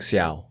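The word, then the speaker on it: Xiao: kind of like a less of the sh sound like seia more of a s sound that's more China cuz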